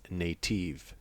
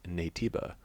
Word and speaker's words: Naytiba: Native, when pronounced in Korean, phonetically sounds like Naytiba, so Shift Up used this name as a replacement.